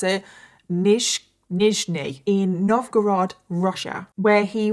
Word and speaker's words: Nizhny: And he grew up in the city of Nichny? Oh my god, I cannot pronounce this place to save my life. And I've looked up how to pronounce it. Nizhny in Novgorod, Russia, where he was an only